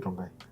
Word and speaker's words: Rongai: So why do you call it Rongai? It rhymes with lie.